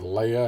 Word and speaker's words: Leia: Technically, her name is Lee, but she decided to start pronouncing it Leia, and everyone calls her Leia.